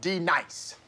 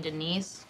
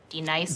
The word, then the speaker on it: Denise: Now, D nice. Do you mean Denise? Son of a bitch! You say your name right now. Denise? Say it right. Denise. Correctly. Denise. Right. Denise. Right. D nice. That's better.